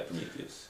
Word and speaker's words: Prometheus: Prometheus, I think that's kind of, I'm pronouncing that correct, yeah? Yeah, Prometheus.